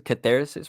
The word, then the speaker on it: Catharsis: Catharsis, bro.